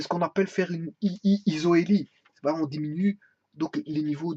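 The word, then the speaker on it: isohélie: Pour certains besoins, on peut faire une isoélie. Isoélie, ça s'écrit ISO avec un H. Attention. Ça s'écrit comme ceci. Isoélie.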